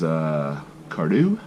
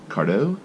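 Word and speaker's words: Cardhu: It is Cardew or Cardo. I've heard it pronounced both ways.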